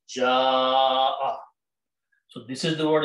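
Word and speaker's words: جاء: So it is pronounced as ja'a. Now, according to tajweed, when there is a hamza and there is an alif before that, we put a long mad on that alif and we pronounce ja'a.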